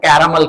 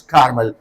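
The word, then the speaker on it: Carmel: in mount कारमल Chandigarh I यूज to speak the mount कैमल कैमल वन ऑफ the student केम sir this is नॉट कैमल this is कारमल since then I am pronounce कारमल सो मैंने उनको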